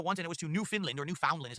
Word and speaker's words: Newfoundland: No, I've only been to Canada once, and it was to Newfoundland, or Newfoundland is how you spell it, but they pronounced it Newfoundland, which is like a fishing town slash part of the country.